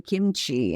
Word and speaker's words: kimchi: And, or kimchi, which is spelled kimchi, which is actually, it's actually kimchi in Korean.